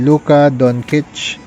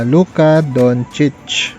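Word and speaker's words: Luka Dončić: Dati po kasi ang pronunciation ko ay Luka Doncic. Pero I think mas tama na Luka Doncic.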